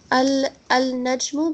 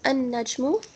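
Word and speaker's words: النجم: Al-najmu becomes an-najmu.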